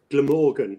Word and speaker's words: Glamorgan: Glamorgan, so the G at the beginning.